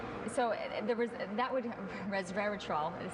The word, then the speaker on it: resveratrol: are very good and so the that would Resveratrol is how you say it you you need